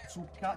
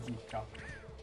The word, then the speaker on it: zucca: o meno lì Comunque la pronuncia corretta mi sembra sia zucca e non zucca la Z di cazzo mi dispiace farvi questo paragone ma è la Z di cazzo non è